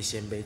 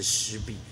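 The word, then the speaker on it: 鲜卑: 其实我告诉各位，那两个字不念鲜卑，正确的读音是湿鄙。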